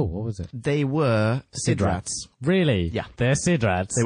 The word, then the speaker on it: SIDRAT: The space-time machines that the War Chief provides for the games are only named Sidrat once in Episode 7, when it's pronounced Sidrat.